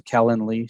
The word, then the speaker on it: Calendly: you spell that it's it's like calendar but with an ly so calendly c-a-l-e-n-d-l-y okay yeah really